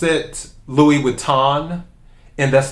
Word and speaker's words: Louis Vuitton: silent so it's not louis vuitton is louis vuitton the end the n is soft is what it is